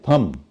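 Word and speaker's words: thumb: है अंगूठा है हा इसको लोग थंब बोल देते हैं टी एच य एम बी थम बोलते हैं और ये है थम और जो कोल्ड ड्रिंक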